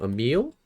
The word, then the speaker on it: Emil: Emil. Yeah. Nice. Wondering because I saw your Instagram uh name. Yeah, it's a meal. You actually pronounced it right.